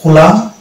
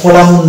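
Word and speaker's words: column: অনুরূপভাবে এটা হচ্ছে হাইম, এটা হচ্ছে কোলাম, এটা কোলামুন না কোলাম, আর এটা হচ্ছে অটাম, ওটামুন না অটাম।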